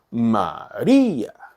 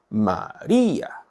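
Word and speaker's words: María: 보시면 되고 말이 이해하는 이의 강세가 있죠 마리아 마리아 조금 오버하고 있는 겁니다 여러분은 좀 자연스럽게 이렇게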